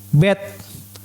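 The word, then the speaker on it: בית: Ini dibacanya ini B. Bet.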